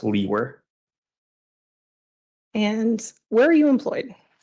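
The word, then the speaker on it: Liewer: my last name is spelled l-i-e-w-e-r and it's pronounced Lee were and where are you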